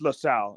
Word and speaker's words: LaSalle: It's how do you pronounce it? It's LaSalle? I hope you have a good night. It's LA-Cell or what is it? It's LaSalle. It's LaSalle.